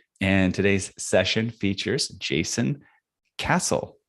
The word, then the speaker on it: Castle: And today's session features Jason Castle. Is that how you say it? Castle? It is indeed. Yeah. Very good. It's like the building.